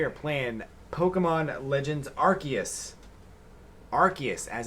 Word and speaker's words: Arceus: Arceus, as it's pronounced.